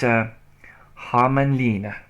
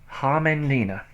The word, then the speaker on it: Hämeenlinna: It's Hämeenlinna. Hämeenlinna is how you pronounced the city in Finland that we went to.